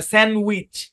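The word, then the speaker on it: sandwich: তারপর দেখেন আরেকটা শব্দ, যেমন দেখেন এই শব্দের মধ্যে ডিটা সাইলেন্ট। আমরা খাই, অনেকে আমরা বলি স্যান্ডউইচ, স্যান্ডউইচ না, স্যান্ডউইচ। স্যান্ডউইচ, D silent, D নাই, উচ্চারণ হবে না।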